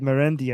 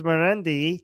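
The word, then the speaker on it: Marandi: So given that his name is Merendi, Charand rhymes with Merendi.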